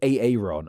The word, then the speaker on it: Aaron: This is also the case of another double A word the name of Aaron or a aon as it's correctly pronounced.